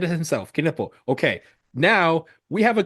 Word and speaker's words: Knueppel: game, we were like, "Okay, how do we pronounce this dude's last name?" Quiduple Caniple. Jason, no, it really is Keniple. I've I've watched like 80 he said it himself. Kippo.